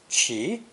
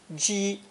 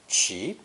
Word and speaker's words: 奇: A split sound character, usually pronounced second tone, 起, 起, but also pronounced first tone, 鸡, 鸡 in some expressions.